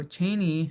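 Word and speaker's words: Chanie: So we would never actually say pronounce the L because we don't have that in our dialect, right? So Cheney was Charlie.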